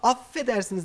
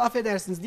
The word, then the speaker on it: affedersiniz: oğluma Aferin diyor aynı ama Affedersiniz iki tane Efe var Onu Afedersiniz Afedersiniz doğru altında yatan